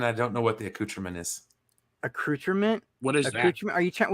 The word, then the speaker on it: accoutrement: accoutrement. Oh, never mind. I let it slip that I knew it was French. See, I'm sitting here acting like I'm all hurt. And you pronounced it wrong. It's accoutrement.